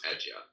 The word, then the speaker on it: Adyar: Am I pronouncing Adyar right? You are, yes, Adyar.